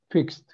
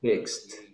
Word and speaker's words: fixed: pronounce it like T the Ed is pronounced like T so in other words If you eliminate e and you add the T you pronounce it like this how do you pronounce it fixed that is a pronunciation